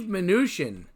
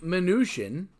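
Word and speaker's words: Mnuchin: serving it later our next fella is Steve manoosh in that by reading it and not hearing it pronounced is usually tough to pronounce Steve manoosh in is a US Secretary of the Treasury that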